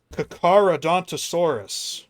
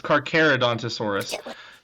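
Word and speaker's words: Carcharodontosaurus: Kakarodonttosaurus. Close enough. It's Carerodonttosaurus. Just one freaking vowel.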